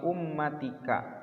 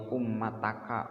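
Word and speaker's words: أُمَّتِكَ: Ya, bismillah itu adalah untukmu, wali ummatika, dan untuk umatmu. Dibacanya jangan wali ummataka, wali ummatuka, karena ada li. Ada lamnya, li artinya untuk.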